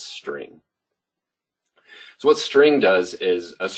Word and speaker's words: str: Here, the str is short for string. So I'm just going to pronounce it as string.